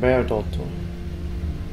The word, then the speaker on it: Bairdotr: So now we know how to pronounce her name, Bairdotr.